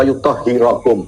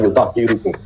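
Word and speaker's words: يطهركم: Innama yuridullahu liyudhiba ankum ridza ahlal baiti wa yutahhirakum. Beliau membacanya wa yutahhirukum. Salah dalam membaca. Wa yutahhirakum tadhira. Berarti yang belepotan siapa? Lalu jadi dalam pembacaannya ada yang keliru ya, Pak Eltop? Dia membaca yutahhirakum dibaca yutahhirukum.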